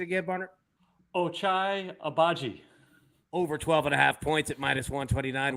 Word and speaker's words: Ochai Agbaji: And go ahead and give me that pronunciation again, Barner. Ochai Agbaji.